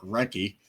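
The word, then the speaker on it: Recchi: Uh so first hockey forgotten star we have is Mark Rechie. Uh seventime allstar ranging from 91 to 2000. Yes. Apparent apparently so forgotten that his name is actually Mark Reky. I thought you pronounced the H.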